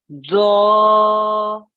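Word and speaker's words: ظ: But the best way of making the correct sound is to make your tongue really thick and fat and heavy and floppy. And then just to round your mouth at the same time.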